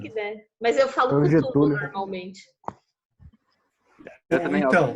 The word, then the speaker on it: Cthulhu: Mas aquele conto do Lovecraft, o chamado de Cthulhu lá, De Clayton. como que é a pronúncia, Adriano?